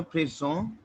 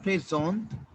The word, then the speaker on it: présente: It is just I have to insert je présente. Je présente. Now over here we have e ending, right? So t would be pronounced.